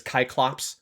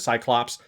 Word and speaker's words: Cyclops: It's Kyclops or Cyclopes instead of Cyclops because there's no no soft C in ancient Greek.